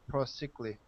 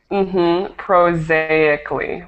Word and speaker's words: prosaically: and I think this word is very more prosaically, hard to pronounce. Prosaically.